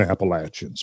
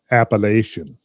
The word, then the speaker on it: Appalachian: ago in the southern appalachians but people who live in the appalachians pronounce it appalachian and all the outsiders pronounce it appellation got to keep that